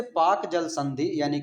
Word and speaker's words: Palk: पाल्क नाम का एक अंग्रेज अधिकारी हुआ करता था, उसी के नाम पर इसको उच्चारण में पाल्क को पाक बोला जाता है, उसके नाम पर है।